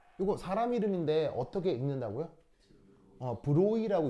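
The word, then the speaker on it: Broglie: 브로이라고 읽는다고 했죠. 이게 브로글리에가 아니고 이게 프랑스 사람이라서 발음이 좀 묘해. 나도 정확한 발음은 모르는데 드브로이 뭐 이렇게 읽나 봐야겠죠.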